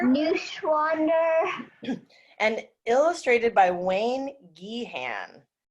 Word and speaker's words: Neuschwander: Cindy, like, Neuschwander. Neuschwander.